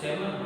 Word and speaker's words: salmon: I wonder if they have any salmon, है ना, L silent है, जैसे पाम और काम होता है ना, इसको सैमन पड़ता है ना, तो ये मछली का नाम है, बात मछली की खाने की हुई।